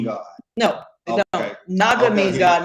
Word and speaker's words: Naga: It's really pronounced Naga. Oh, okay. It's pronounced Naga. N-A-G-A.